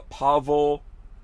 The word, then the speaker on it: Pavel: on a Wednesday special show we've got uh Pavel is it am I saying that right